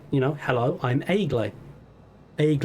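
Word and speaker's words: Egle: enough uh she said you know hello i'm eggly egg like okay good when justin called out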